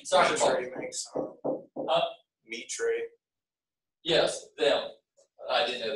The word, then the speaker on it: Mitre: Mitre. Yes, them. I didn't know that that's how they pronounced it, to be honest with you, so that's why it took me to.